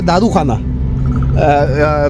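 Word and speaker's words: doʻrixona: इसको प्रोनाउंस किया है दारू खाना।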